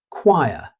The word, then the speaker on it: choir: Don't pronounce the CH as you would in chair. Instead, pronounce it choir. It has two syllables in careful British pronunciation.